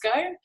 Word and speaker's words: VSCO: VSCO, I don't know how to pronounce it, it's Visco.